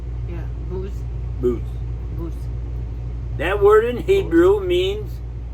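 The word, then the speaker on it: בוז: The actual Hebrew word there, used there, is booze, B-U with a little roof over it, W-Z, and it's pronounced B-O-O-Z. Yeah, booze.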